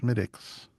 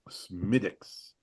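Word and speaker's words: Smithwick's: In in the interest of uh accuracy on the Drinking with Friends podcast, it's pronounced Smidix. Smidix.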